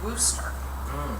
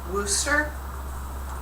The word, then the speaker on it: Worcester: The R's just kind of, it's silent. They just don't say a lot of R's.